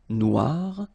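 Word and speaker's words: noire: So it's quite funny because you will have to add this uh at the end of noir for the feminine form but then you don't pronounce it. Okay. So phonetically it is exactly the same noir.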